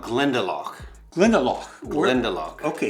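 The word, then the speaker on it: Glendalough: it's called Glendo glendel glendel okay the accent is on the second syllable all right but it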